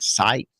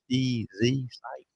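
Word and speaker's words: Sitz: I think it's Michigan and Site, SCITZ, Site, I believe is how you say it, where a person had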